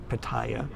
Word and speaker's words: Pattaya: to be bagging on Patia or some of you pronounce it Paya um very nice people